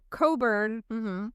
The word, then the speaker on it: Cockburn: And if you are somebody who thinks your name is potentially being a hindrance, if you, think that your name going by, Coburn, but it's spelled Cockburn, and you want to change the spelling of your last name or whatever, like, I totally support that.